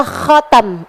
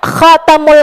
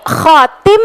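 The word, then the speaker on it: خاتم: Nah, stempel itu makanya kenapa bahasanya stempel dalam bahasa Arab adalah khatam yang juga adalah merupakan bahasa Arabnya cincin. Nabi Muhammad khatamul anbiya wal mursalin. Ini Nabi khatim bacanya ustazah apa? Khatam. Bacanya adalah khatam.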